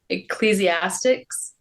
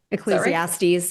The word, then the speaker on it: Ecclesiastes: Ecclesiastics. Ecclesiastes.